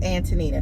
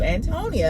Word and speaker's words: Antonina: came up with antonina no antonia it is antonina but we've been calling you antonia and it is absolutely spelled antonina i don't i don't